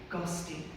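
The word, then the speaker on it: ghosti: guest originate from a single proto-indo-european root word Gusty and before you ask it is spelled g-h-o-s-t-i it roughly translates to someone with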